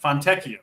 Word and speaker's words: Fontecchio: Listen, I got to tell Mangone how to pronounce every guy in the NBA every show we do. So I got it. Fontecchio.